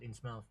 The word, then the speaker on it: Innsmouth: But yeah, the way I've usually heard that pronounced is as Innsmouth, because you know English place names are never said the way you write them.